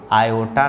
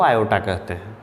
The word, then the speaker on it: iota: संबंधित करने के लिए अंडर रूट -1 को आयोटा नाम दिया गया। अंडर रूट -1 को आयोटा नाम दिया गया। आयोटा, IOTA स्पेलिंग है आयोटा, जिसको सूचित किया जाता है सिर्फ और सिर्फ पहला लेटर यानी I से।